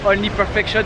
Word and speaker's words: Only Perfection: Ceux qui avaient suivi sur la chaîne AlexTPJ quand j'avais été chercher le Cayenne, donc c'est avec Nico de Only Perfection, faut le prononcer à l'américaine, sinon ça vexe, sinon c'est pas top.